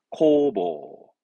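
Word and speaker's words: 工房: 발음은 코보, 코보.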